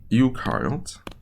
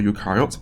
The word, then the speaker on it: eukaryotes: So now we can focus on eukaryotes. Right, Eu rhymes with new, so it has a nucleus.